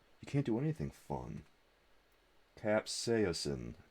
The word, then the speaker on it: capsaicin: horrible no soda you can't do anything fun capsaosin capsaicin KFC okay I got it capsa again all